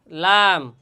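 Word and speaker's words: لام: বলা হয় লাম লাম আর এই লাম হরফটি উচ্চারণ স্থান মাখরাজ কোথায় জিহ্বার আগার কিনারা জিহ্বার আগার কিনারা সামনের উপরের দুই দাঁতের গোড়া এবং সামান্য কিছু তালুর সঙ্গে লাগাইয়া লাম লাম হরফ উচ্চারণ হয়।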